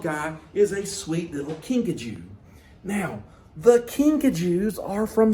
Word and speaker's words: kinkajou: Okay, now Pikachu is what's called a kinkajou. Now, kinkajou, that's kind of a funny word that most people are not used to, right? So, kinkajou is spelled Kinkajou, kinkajou.